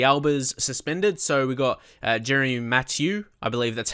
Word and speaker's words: Jeremy Mathieu: So we got Jeremy Mathieu.